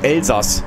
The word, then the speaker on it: Elsass: Aber das wird Elsass ausgesprochen. Also das ist wirklich im Elsass.